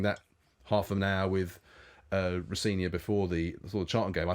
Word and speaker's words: Rosenior: My dad says Rosenior, which is the way to pronounce it, but as long as it's nice, you say something nice about me, I don't mind.